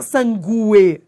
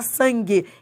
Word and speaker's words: sangue: É porque o U não é pronunciado. Você não fala sangue, você fala sangue.